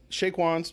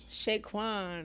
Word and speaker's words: Chez Quan: your restaurant what is your brand uh so Shake wans we're just oh Shaquan sha Kwan why didn't